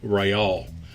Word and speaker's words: real: Carlos III, Spanish for Charles III coins, were struck in 1/2, 1, 2, 4, and 8 reals, properly pronounced Reale, and were minted from 1772 to 1784.